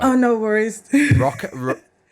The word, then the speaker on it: ROQA: ROQA? ROQA.